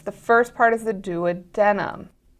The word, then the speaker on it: duodenum: part is the duodenum I've also heard it pronounce duodenum duodenum duodenum it's both the same thing so or duodenum that's the third option so duodenum do a denim duodenum all of that works uh is going to